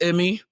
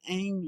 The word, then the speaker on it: Immi: Like I said, this is Emmy spelled I M I, not E M Y. Actually, I said it wrong for like three years of my life because I had a such a thick accent.